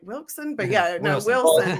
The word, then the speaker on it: Wilson: I was like, Wilson, but yeah. No, Wilson. The locals pronounce it with a T between the L and the S.